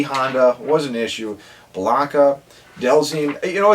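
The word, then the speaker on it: Dhalsim: Blanca, Delzine. You know, it's funny looking back and like thinking back to these memories because the pronunciations are very easy now. But like Delzine, we would call him like Damashala.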